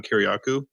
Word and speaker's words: Kiriakou: John Kerry's name and then add Aku to the end of it? John Kerry Aku? It's spelled differently, but yeah, it's like Kir.